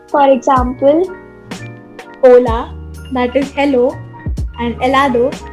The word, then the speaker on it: hola: it is known as H, but it has no sound. It is silent. That's why it is hola and not hola.